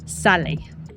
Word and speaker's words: sale: It looks like the word sail, but it's pronounced sale.